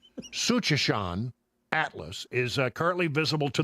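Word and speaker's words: Tsuchinshan: I can't say it, Suchanshan Atlas. I believe that's right. It's one of those words that starts with a TS. Sounds good to me, Brother Brian. I believe the T is silent. Suchanshan Atlas is currently visible to the naked eye.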